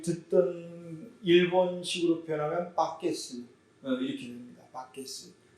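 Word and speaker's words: バケツ: 버킷이라 하는 이 말을 그래서 우리 잘 듣던 일본식으로 표현하면 바게스 이렇게 됩니다. 바게스. 일본 사람들의 발음이 우리보다는 좀 달라요. 버킷, 양동이라는 말이에요. 양동이. 근데 일본 말로는 버킷이란 발음이 바게스 이렇게 나오더라고요.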